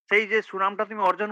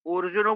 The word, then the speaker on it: অর্জুন: এটা অ অ অর্জুনও বলছেন তো? এটা অ মানে অটা সংস্কৃতে আই হবে। অর্জুন, অর্জুন মানে অ আয়ের মাঝামাঝি একটা উচ্চারণ হয় আরকি সংস্কৃততে। অর্জুন ইউবাচ, অর্জুন ইউবাচ, অর্জুন উবাচ অর্জুন ইউবাচ।